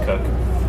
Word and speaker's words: Koch: That's how you that's how it kind of looks like, but it's pronounced Cook, but it's spelled Koch.